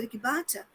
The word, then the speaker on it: Rikbaktsa: sobre os RICBATSA, mas eu gosto mais da pronúncia RICBATSA, mas dentro da própria perspectiva do RICBATSA, a partir da visão de si e do seu lugar no mundo.